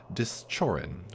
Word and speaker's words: Dischorin: Hello again, this is your host Pearls doing my Let's Play of Hinterlands by Dischorin, which is the soft CH is the proper pronunciation in the native tongue, which I did not